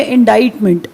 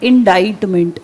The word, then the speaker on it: indictment: एक वर्ड और लिख लीजिए, इंडाइटमेंट, the pronunciation of the word, get it right. मैंने कहा इंडाइटमेंट, वर्ड क्या है, इंडाइट करना, किसी पे इल्ज़ाम लगाना, इंडाइट करना, किसी पे इल्ज़ाम लगाना, इंडाइट।